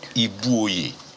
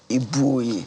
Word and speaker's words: Ibuoye: original name Ibuoye. That's perfectly pronounced. Ibuoye.